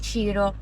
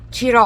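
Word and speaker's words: Cirò: A Marina di Ciro. E Ciro, accento sulla O. Ciro.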